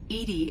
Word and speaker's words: EDI: airlock is a jar why are you named Edie Edie is the phonetic pronunciation of Eed that is an acronym for